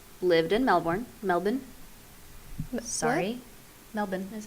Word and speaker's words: Melbourne: in Sydney but lived in Melbourne Melbourne sorry Melbourne is how you're supposed to pronounce it really the Aussies pronounce it as Melbourne Wow every day kids yeah she started as